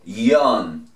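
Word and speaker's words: よん: Muchos dirán que 4 también se dice Yon. Yon, y es verdad, así. En este caso, la Y se pronuncia como una I.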